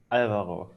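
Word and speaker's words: Álvaro: Alvaro, stress the first syllable.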